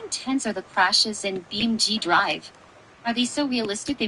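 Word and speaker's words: BeamNG.drive: Now that we've got the pronunciation down, I'm intrigued. How intense are the crashes in BMG Drive?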